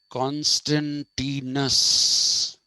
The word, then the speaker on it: Constantinus: Okay, now this is what the Americans say, but what Italians say is that the Latin of this was Constantinus. That is what they say is the Latin.